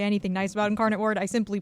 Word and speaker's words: Incarnate Word: was like I didn't say anything nice about Incarnate Word I simply pronounced the name Incarnate Word correctly so we